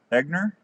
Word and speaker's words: Egner: your last name e-g-n-e-r how do you pronounce that e-g-n-e-r yeah eggner i have no i